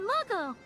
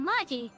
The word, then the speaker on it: Magi: Oh, you know Muggle! I read that name wrong. Oh, Yuta Magi.